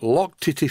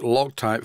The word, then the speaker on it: Loctite: to this view of from Sweden it is pronounced Bako here I'm going to use some lock Tity 542 to make sure that nothing leaks this stuff is really good it's actually pronounced loc type 542 and I always use it anywhere where